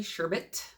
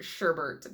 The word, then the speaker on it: sherbet: And I know that it's probably sherbet, because that is, I believe, the appropriate and correct way to say and spell that word. But I really hold on hope that whoever wrote this copy, they put this sherbet in there just for me, because I feel like that's how you say it.